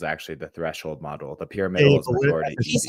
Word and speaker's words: pyramidal: the middle is actually the threshold model the pyramidal is how you say how do you say